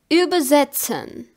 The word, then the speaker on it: übersetzen: T, Z and TS don't have their similar English version. They are pronounced like ts, ts. For example, übersetzen.